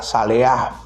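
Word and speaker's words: צלח: final, pero en hebreo cada vez que hay una H se pronuncia como J, saleah, que significa ser empujado hacia adelante, avanzar hacia adelante, ir hacia adelante.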